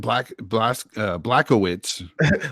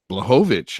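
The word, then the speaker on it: Błachowicz: Blachowicz, huh? Yeah, Blachowicz. I know it doesn't look like that's how it's pronounced. It looks like Blachowicz. Bro. It's one of those Polish things.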